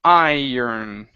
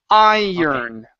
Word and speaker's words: iron: the r okay so instead of irin it's IR iron so I have to say I first teacher uhuh I first but do not pronounce the O the O is not going to sound in between the r and the N it's only it's only like you're saying turn oh it's my turn iron iron iron iron Ironclad